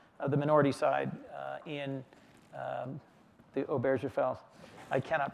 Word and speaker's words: Obergefell: minority side in the Obergefell, I cannot pronounce that name. Obergefell, it's tough. Obergefell. Hard G, I think.